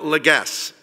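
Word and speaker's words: Legesse: I'd now like to call upon Shmuel Legass. Is that right? Yes, sir. I got it right. Very nice. It's spelled L-E-G-E-S-S-E, so you understand why I'm a university president.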